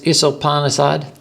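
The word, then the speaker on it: Īśopaniṣad: add is that s the second s has an accent over it which means that it's pronounced like a sh instead of us you mean the first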